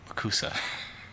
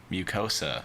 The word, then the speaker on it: mucosa: were biting her oral kusa I don't think that's how you say it mucosa is what my computer says it sounds like twenty-one-year-old okay that makes